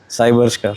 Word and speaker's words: Cyberster: बात बताओ कि MG, पहली बात तो MG साइबस्टर है या साइबरस्टर है? प्रोनाउंसिएशन मुझे क्लैरिटी नहीं है भाई, मैं इंडिया में पैदा हूँ। आप क्या बोलते हो? साइबरस्टर।